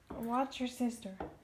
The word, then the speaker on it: Worcestershire: have some worcestershire sauce i know that pronunciation is up for debate worcestershire i don't know i say worcestershire watch your sister watch your sister i